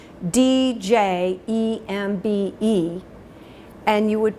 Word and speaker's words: djembe: It's spelled D-J-E-M-B-E, and you would pronounce it djembe, as if it started with the letter J.